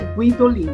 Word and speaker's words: Guidolin: os guidolin Ah tá eles pronunciam o u como se tivesse um trema guidolin e aqui no Brasil daí simplificaram colocaram guidolin mas o a pronúncia correta é guidolin daí vieram os e